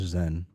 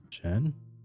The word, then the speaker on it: Xen: Your name is Zen. Xen. Jen. Xen. Xen. Xen. Jen. Jen. It's pronounced more like Jen than Zen.